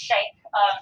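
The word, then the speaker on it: Schenck: This is pronounced Shank versus the United States.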